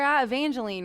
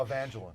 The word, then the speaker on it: Evangeline: and he's this where Evangelene right in Louisiana. Evangeline. Evangeline. I'm so sorry. I like to say it like the Firefly in Princess and the Frog.